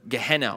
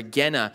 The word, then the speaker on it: Gehenna: talking about hell is a word gehenna or Gena is another way it's pronounced and this is also